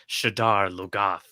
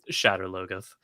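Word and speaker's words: Shadar Logoth: um the city that the show insists on pronouncing shiddar lugaff we're just throwing some extra syllables in there for sure well in the audio i pronounce everything for the most part the way the audiobooks pronounce it which is shatter logos um and i pronounce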